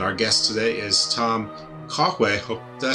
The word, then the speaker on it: Cahue: It's not at all how it's spelled. It's one of those old Gaelic kind of sounding names, but I've already been told it's like sort of French, Spanish, Basque, Pyrenees kind of thing.